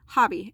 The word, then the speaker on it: Hobbii: This comes from Hobbii, I'm sorry, I always say it wrong. Hobbii, H-O-B-B-I-I.